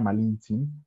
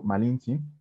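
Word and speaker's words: Malintzin: nombre es su nombre malinche es la manera en que los españoles entendían que se pronunciaba pero su nombre de la malinche malinches y malinalli pero malintzi y entonces ellos escuchaban malinche y por eso ellos decían malinche ahorita vamos a ver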